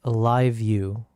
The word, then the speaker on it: LiveU: What about live view? What do you know about live view? It's spelled LIVEU.